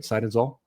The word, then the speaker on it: Seidenzahl: Seidenzahl, right? Seidenzahl? Correct. Okay. Thanks, Paul. Appreciate you living with me, mispronouncing that.